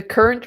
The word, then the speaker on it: Current: The Current River. They call Kern River.